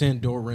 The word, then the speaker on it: Andorra: what I found through Andorian no Endor it's aunt Dora and Oren mm-hmm and